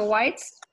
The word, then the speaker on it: Weitz: think we need to move on to Joshua Weitz am i pronouncing your last name correctly you okay here